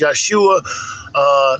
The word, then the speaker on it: Yeshua: Correct pronunciation is Yeshua.